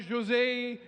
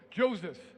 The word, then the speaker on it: Joseph: Room 3 is, just so you know how you pronounce his name, it's not Jose, it rhymes with Moses, Joseph. Okay, so rhymes with Moses, Joseph.